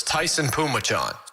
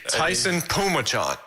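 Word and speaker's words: Taisun Phommachanh: So it's Taisun. That's pronounced Tyson. And Phommachanh. So it's Tyson Pumachan. Really? TP. Tyson Pumachan.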